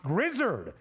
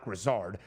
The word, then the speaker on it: Grizzard: Josh Grizzard, I believe is how you pronounce his last name. I hope it is not Grizzard.